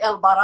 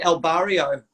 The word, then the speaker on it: El Barra: And I call him El Barra, but when I heard his Spanish friends coming over to talk to him and they're like, El Barra, I was like, okay, that's how you pronounce his name. Like you didn't say El Barrio.